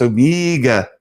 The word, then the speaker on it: Omega: AG, it's pronounced Omega.